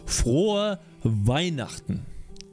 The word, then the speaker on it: Frohe Weihnachten: How's it pronounced? Frohe Weihnachten.